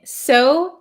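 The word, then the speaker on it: sew: pronounce these words so both of them are the same so and so so s o s o w and s e w are the same pronunciation I have a knack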